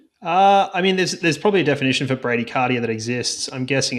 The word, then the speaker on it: bradycardia: At what resting heart rate does a doctor diagnose bradycardia? Is that how you say it? It is how you say it. Bradycardia.